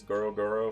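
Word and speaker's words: ゴロゴロ: That's how you say it in Japanese. Goro Goro for lightning and Gura Gura for earthquakes.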